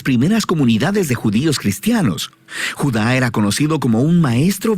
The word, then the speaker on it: Judá: hermosa veamos Este vídeo la carta de Judas o más precisamente Judá de acuerdo con la pronunciación de su nombre tanto en griego como en hebreo Judá Era uno de los